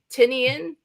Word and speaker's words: Tynion: you know James uh tinian tinian uh book um I met his publicist that's how she said to pronounce it I asked her